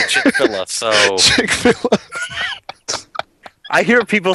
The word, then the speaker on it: Chick-fil-A: I mean, uh, I know Man Versus Game, there's like I think the owner of, uh, Chickfila, Chick-fil-A or however the hell you pronounce it watches his stream.